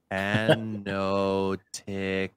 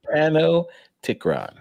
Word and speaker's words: Panopticron: Panopticron. So the P is silent, guys. All right. So it's not Panop. Tikron, all right? Panopticron. It's Panopticron. You get there.